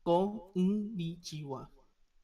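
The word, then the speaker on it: こんにちは: supposed to pronounce konnichiwa.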